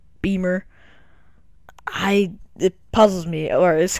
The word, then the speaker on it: Bimmer: Not Bimmer. Because that's the way it's spelled. Beamer.